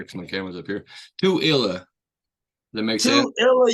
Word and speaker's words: Tooele: Is it Tooele, Tool? Tooele, Utah. Tooele. So like do like the number two and then Illa. Tooele. I need to look up here because my camera's up here. Tooele.